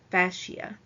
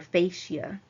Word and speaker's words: fascia: are held by a renal F fascia or fascia depending on how you would like to pronounce that word all right and fascia